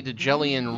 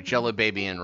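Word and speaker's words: Djelibeybian: Well, we do need a nice shiny Jellian ring. Sorry, Jellibabian ring. I don't know why I keep wanting to pronounce the D.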